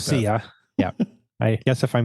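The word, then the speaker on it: Poesia: I can't pronounce it the poia poia it's Italian it's an Italian word the MC poisa p p o e s i a okay or posia or something like that posia yeah I guess if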